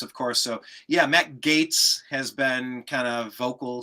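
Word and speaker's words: Gaetz: they are pushing it Matt Gates or is it Gates or gets Blake Gates one million percent Gates not gets yeah that's I've always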